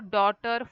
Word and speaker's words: daughter: K is silent then here neighbor daughter fight and straight here g is silent Okay g is silent